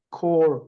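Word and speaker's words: corps: 부여했다고 인 더 프로젝트 콜 콜 이게 콜 피하고 s가 발음이 안 돼요 콜 콜 오브 파슨스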